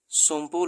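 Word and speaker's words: Tsomgo: या यूटी is lake सोम्पो located. अभी lake सोम्पो कहाँ पर है? सीडीएस 2022 का सवाल है कि लेक जो सोम्पो है वो कहाँ पर, टीस में साइलेंट है, लद्दाख में है, हिमाचल में, सिक्किम में, कि उत्तराखंड में।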